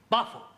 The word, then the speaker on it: buffalo: Yeah, words that end in O, like buffalo or radio or vertigo, you pronounce the O, but where there is no O, you don't add one, understand?